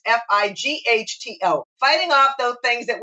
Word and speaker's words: phyto: And even though we spell it PHYTO, I would say sometimes FIGHTO, fighting off those things